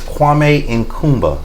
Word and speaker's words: Kwame Nkrumah: His name is Kwame Nkrumah Mausoleum.